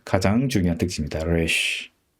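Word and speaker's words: Resh: 래쉬이기 때문에 R 발음이 나는데 사실은 현대 히브리어도 그렇고 그 유럽권에서 온 분들은 이 R 발음이 우리의 R 발음은 다르거든요. 우리는 그냥 르 이렇게 발음하지만 현대 히브리어에서도 그렇고 유럽에서 온 분들은 불어의 에하 발음하고 비슷하게 발음합니다.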